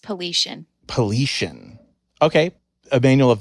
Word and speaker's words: Paulician: It's pronounced Paulician.